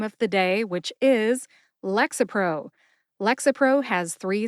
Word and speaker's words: Lexapro: syllable to emphasize but I tend to emphasize Lex see if you can hear that emphasis when I say it slowly Lexapro how did I find the pronunciation for Lexapro I found the written